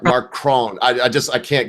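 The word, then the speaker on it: Macron: Um, my French really sucks, but I think it's spelled out M A C R O N. Yeah, it's Mark Mark Cron.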